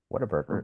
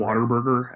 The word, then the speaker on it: Whataburger: Whataburger is correct. Waterburger, as I think I've heard some people pronounce it. There you go. However you want to pronounce that.